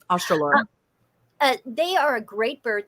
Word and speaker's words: Australorp: But I have one of my favorite chickens to raise are the black, I think you pronounce it Australopes. Mm-hmm. Australorp.